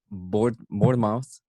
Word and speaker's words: Bournemouth: They beat Bournemouth. That's how you pronounce it.